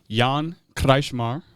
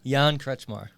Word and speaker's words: Kretzschmar: We have Jan Kretzschmar. Is that how it's pronounced? It is not. How do I pronounce it? Jan Kretzschmar. Kretzschmar, okay.